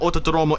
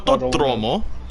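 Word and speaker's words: Autódromo: on, Autodromo. Autodromo. Jesus, you say you you don't really pronounce the D. You say like th, No. like you have a lisp.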